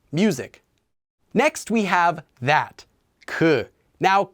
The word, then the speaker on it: 그: e uma this music next we have that qu now qu is also used before a noun in the